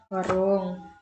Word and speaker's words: Waroeng: Bacanya gimana? Warung. Bacanya? Warung Agus.